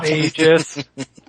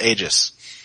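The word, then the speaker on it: Aegis: get these guys to pronounce egis correctly oh yeah egis it's not AIS it's got an A on it but anyway infinitesimal Frontier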